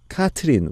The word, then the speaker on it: Catherine: Because I'm in a French province, my name is pronounced like Catherine. Catherine, with the R pronounced like a dog is growling.